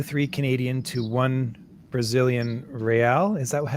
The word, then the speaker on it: real: it's point two three canadian to one brazilian real is that how you pronounce it again yeah but yeah real hell yeah that's right right because you guys